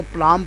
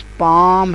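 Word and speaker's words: palm: कई स्टूडेंट इसको पलाम पढ़ते हैं। तो, कुछ इंग्लिश के ऐसे अल्फाज़ होते हैं जिनमें अल्फाज़ तो लिखे जाते हैं, लेकिन वो प्रोनाउंस नहीं होते। साइलेंट होते हैं। यह लफज़ पाम है।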